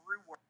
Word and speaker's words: Roowerks: And I mean, our social media, John is at PassionNerdly, and it's spelled like it sounds, PassionNerdly, and I am Rooworks, which is ROOWERKS.